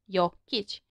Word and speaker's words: Jokić: Same with Jokic being a two syllable word. Jokic.